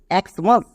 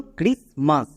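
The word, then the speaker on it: Christmas: ক্রিসমাস। একে অনেকে আবার এক্সমাস বলে। এক্সমাস কিন্তু না। এটা হচ্ছে ক্রিসমাস। এটা সম্পূর্ণ ব্যতিক্রমী ওয়ার্ড।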